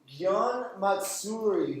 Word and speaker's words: matsuri: the next one all right this one is pronounce Matsuri who can say that mat this is a